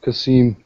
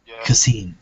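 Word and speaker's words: Qasim: It's Kasim. Are you talking to me or? Yeah, Kasim. So Q silent. Yeah. Kasim.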